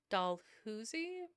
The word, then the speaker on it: Dalhousie: I don't know how to pronounce that. Dalhousie? It might not have the Dalhousie? Dalhousie. Really? Dalhousie?